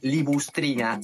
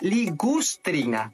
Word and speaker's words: ligustrina: esto que está acá no se llama libustrina se llama ligustrina porque viene de una plantita que es el ligustro ahora esto que usas